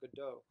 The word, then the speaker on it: Godot: lot and the second thing is when you pronounce it correctly Waiting for Godot it actually risen both I waited for God